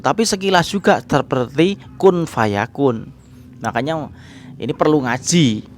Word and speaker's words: Kun Fayakun: Seperti apa Gom ya dibaca Kun terlebih dahulu tapi jangan lupa berdengung Gom Aku kemudian samar di belakang Kun Fayakun Nah kalau sekilas seperti Kung Fayakun tapi sekilas juga terpetik Kun Fayakun bahkan nyawa ini perlu